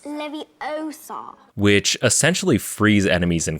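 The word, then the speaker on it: Leviosa: like aresto momentum or Levi Oso you're saying it wrong it's leviar which essentially frees enemies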